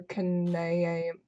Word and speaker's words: Kanaya: Kind of, but even people on the Homestuck team argue about name pronunciations with each other. Oh, really? Yes. Your Kanayam is Kanaya Kanariam.